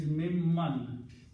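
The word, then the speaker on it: مما: Then the word is mimman. Min and so mimma. Min and ma. Of what? Okay, these two together are written as mimma. Noon is pronounced as mim.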